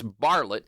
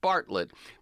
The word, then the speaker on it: Barlett: It's Bartlett, not Bartlett. B A R L T and that's a N D steel.